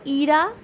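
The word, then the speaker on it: ইড়া: ইরা পিংলা এবং সুষুমনা অনেক জায়গায় অনেক ভুল প্রোনাউন্সিয়েশন শুনতে পারেন আপনারা অনেক ভুল উচ্চারণ না তিনটি নাদি হলো ইরা পিংলা এবং সুষুমনা তিনটি প্রধান এবং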